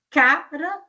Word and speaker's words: cara: Então cara é uma coisa, cará que é uma raiz é outra. Então agora já mudou a forma de pronunciar, mudou também a sílaba tônica e mudou a palavra.